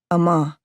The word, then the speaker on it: Amma: happen to 16-year-old girls my name Amma means water if you say it right and salt if you don't a ma AG gave